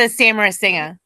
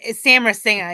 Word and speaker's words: Samarasinha: Samantha Samarasinha. See, that's what I said. Samra. The A is silent? It's Samra Singer, yeah.